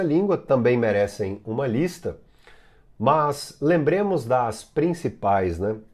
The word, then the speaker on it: mas: Bom, as mais famosas, as adversativas, mas, porém, contudo, todavia, entretanto, no entanto, dar especial atenção à pronúncia do termo mas, não é mais, é mas.